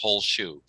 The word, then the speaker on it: Holsha: It's pronounced whole shoe, not a half shoe, but a whole shoe.